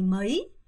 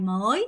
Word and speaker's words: mấy: vào vào ngày mấy ngày mới 안 돼요. ngày mấy ngày mấy ngày mấy ngày mới 안 돼요, 여러분. ngày mei입니다.